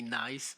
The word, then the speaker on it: Ness: Uh, in Flemish, my name is Ness, but uh and you you pron pronounce it differently, but sometimes uh people abroad call me nice, but that's okay.